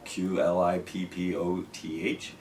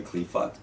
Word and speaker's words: Qliphoth: It's a force within the Kabbalah which is known as the Qliphoth, however you might want to pronounce that, Qlippoth. Some people say Qliphoth.